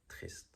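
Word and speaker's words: triste: learn is Trist um for people who cannot pronounce the r very well mostly I think my Asian students but all the people struggle with the r you can really roll the r of trees to make it sounds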